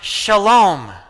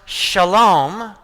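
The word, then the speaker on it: Salem: Melchizedek was a king and a priest of what's pronounced Shalom. That was the name of the city. It's pronounced Shalom.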